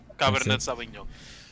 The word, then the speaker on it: Cabernet Sauvignon: Cabernet Sauvignon.